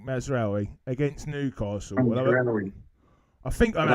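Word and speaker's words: Mazraoui: So I am currently starting with Rya uh how do I pronounce the Man United defender's name Nick? I keep getting it wrong. Call him Mazawi. Mazari. Mazawi against Newcastle.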